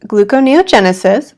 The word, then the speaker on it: gluconeogenesis: big G word when we research keto it's pronounced gluconeogenesis for those of you who read it but